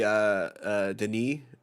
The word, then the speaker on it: Denis: I mean, I would love to see Denis Villeneuve. Is that how you pronounce it, Marco? You're the more Dennis Villeneuve. I know it's pronounced Denis.